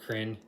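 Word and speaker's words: Krynn: as the nation of crin k-r-y-n I'm going to pronounce it like the world friend that's this setting for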